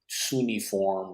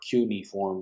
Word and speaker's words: cuneiform: Now, whether he's reading them correctly, because a lot of it is the Sumerian text and the they call the cuneiform or cuneiform, depending how you say it.